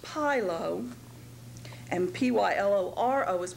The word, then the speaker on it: pyloro: p y l o is pronounced pylo and p y l o r o is pronounced pyloro and they both uh stand for